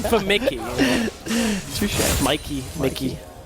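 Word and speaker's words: Mikyx: Mickey. The X is silent, right? I believe so.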